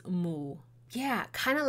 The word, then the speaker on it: 巫: In archaic Chinese, which we can see remnants of in Cantonese, Minnan, and other similar dialects, the pronunciation of the word Wu is Mu.